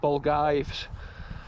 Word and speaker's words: Balgavies: Castle but I believe in the local tongue it's actually pronounced bulges and it's been cool